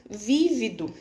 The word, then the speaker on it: vívido: Porque também se eu não colocar no vívido, eu tenho uma outra palavra aí que existe que é vivido. Aí eu já tô falando do passado, né? Ele tinha vivido, eu tinha vivido, já vira outra palavra com outro contexto, com outro significado.